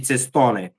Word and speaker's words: Cestone: I Yeah, have to pronounce it like Italian. Sorry, I can't really do American. About Gigi Cestone, yeah.